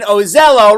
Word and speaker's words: Ozello: remember this name claudine ozello rhymes with jello let her have it